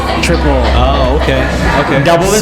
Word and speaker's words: Tripel: so what we call a trapeze it's actually pronounced triple triple oh okay okay double this double and okay